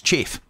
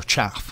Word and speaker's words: Chaff: of the modifiers is chafe, or chaff, whichever way you want to pronounce it, which basically we have no radar.